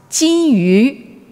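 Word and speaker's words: 金鱼: Now, goldfish, pronounced jin yu, also it sounds kind of like jin yu, gold and jade.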